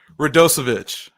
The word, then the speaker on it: Radosevic: Radosevic. You nailed it. Let's go. Chase absolutely crushed that pronunciation.